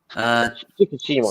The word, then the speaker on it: Shikishima: The general's name is, how do you pronounce his name again? Oh, let me find it again. Shikishima.